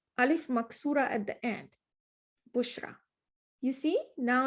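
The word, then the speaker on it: بشرى: But now if I add bushra, this alif maksura at the end, bushra.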